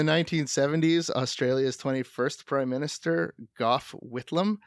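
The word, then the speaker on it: Gough: CIA in the 1970s Australia's 21st prime minister Goff whitlam golf golf that's pronounced goth let's go no ask any Aussie it's Goff whitlam it's Goff whitlam I hope I hope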